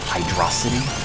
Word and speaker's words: Hydrocity: name of the zone how we said it was hydro city apparently a lot of Awesome are a lot of people also say Hydra sea which I never thought